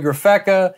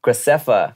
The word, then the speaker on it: Graceffa: I've got Bella Thorne coming up, Elijah Daniel, Garrett Watts, Joey Graffeca. You said Joey's name wrong. Graffeca? Graceffa. Graceffa.